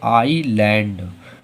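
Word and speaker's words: island: में यस आया तो हम लोगों का यस साइलेंट है, तो इसे क्या पढ़ेंगे? आई लैंड।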